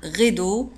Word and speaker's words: rideau: rideau le rideau un rideau لاحظوا على أن rideau تكتب بالدي E A U وتنطق دو le rideau un rideau le rideau